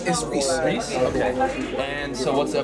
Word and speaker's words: Res: Well, you know, but it's Reese.